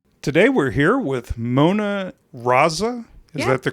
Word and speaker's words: Mona Raza: Today we're here with Mona Raza. Is that the correct pronunciation?